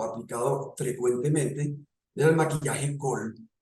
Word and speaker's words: Kohl: Después ya vino un maquillaje, prácticamente se considera ya un maquillaje o un cosmético aplicado frecuentemente, era el maquillaje Kohl, así se pronuncia K-O-H-L, Kohl, registrado de 3.100 años